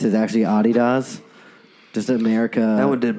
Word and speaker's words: adidas: out that if the new like it's actually pronounced the other way just like adidas is actually a DDoS just America I would did blow my [